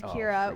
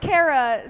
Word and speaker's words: Kira: supposed to be named Kira when I was born but my dad can't pronounce it he says Cara so my mom because